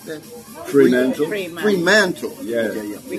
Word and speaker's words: Fremantle: How you pronounce that? Fremantle.